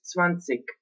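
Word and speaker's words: zwanzig: que se escreve assim, se lê o G que está no fim ou não. E é assim, por exemplo, no sul da Alemanha e na Áustria, sim, é normal dizer-se 20 e ler-se o G.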